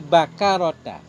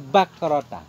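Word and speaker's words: بكرة: An Abi Bakrah, an Abi Bakarota, an Abi Bakrota. Boleh dua cara baca. Boleh Bakarota, boleh Bakrota. An Abi Bakrota qala.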